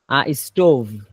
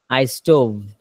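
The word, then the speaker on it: stove: ফায়ের উচ্চারণ যেখান থেকে হয়, ভি এর উচ্চারণ একই মাখরাজ থেকে হয়।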